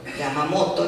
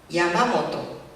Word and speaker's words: Yamamoto: Es natural del castellano, y si lo decimos en castellano está bien, porque así es el castellano. El acento en la sílaba grave, cuando el acento no es visible. En el japonés ese acento no existe, tampoco es grave. Yamamoto, ¿no? A lo sumo, un poquito de entonación. Bueno, por eso ahí la